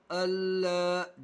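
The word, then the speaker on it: الله: अलीफ ज़बर ला, अल्लाह, अल्लाह, जल्दी से अदा करना है। अल्लाह, इस तरीके से खींचना नहीं है, बगैर खींचे पढ़ना है।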